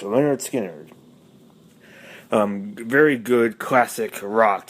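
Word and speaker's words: Lynyrd Skynyrd: The pronounced Leonard Skinner.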